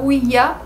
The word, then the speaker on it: Ouija: Donc c'est pour ça qu'avec rigueur, certaines personnes vont prononcer le Ouija « Ouija » pour le « ya » allemand et le « oui » français.